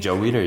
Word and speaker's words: Weider: Joe Weider, yeah.